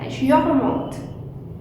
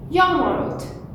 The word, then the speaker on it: Yarmouth: That is pronunciation YARMOUTH. Yarmouth. We don't speak yar. It is YAR, but we don't pronounce R.